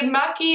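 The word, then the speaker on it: maqui: Maki. M-A-Q-U-I. Maki. Maki? How else would you spell it? How would you say it? I just didn't know what it was that you were talking about until I looked at it and it spelled M-A-Q-U-I. I was thinking it like M-A-C-C-I. And I was just pronouncing it wrong. Yeah, and I was like, nope. It's an oil. Like macchiato.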